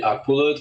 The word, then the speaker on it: Akbulut: And then last name will be Aqualut.